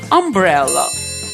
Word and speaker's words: umbrella: Наприклад, парасолька англійською umbrella. Перша літера в цьому слові, але вимовляється вона як а.